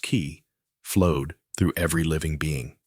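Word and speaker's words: qi: The invisible vital force called key pronounced ki flowed through every living being.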